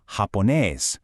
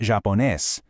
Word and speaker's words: japonés: So it's japonés, not japonés. It's alemán, not alemán.